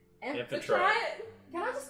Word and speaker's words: Amphitrite: Did you say it right? Was it Amphrite? No. Amphitrite.